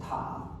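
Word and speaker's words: 塔: And this word is pronounced as ta, which is a tower.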